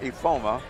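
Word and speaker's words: Ifeoma: But she has a 6-foot junior, Hazel, and it's spelled I-F-E-O-M-A, but it's pronounced Ifoma.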